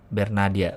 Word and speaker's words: Bernadia: tangan] eh ber ber bernadia ber apa ber sih Apa nama itu dia kan nama Twitternya kan be ber not ber be berarti bacanya ber ya ber Nadia ber Nadia gua pertama kali tahu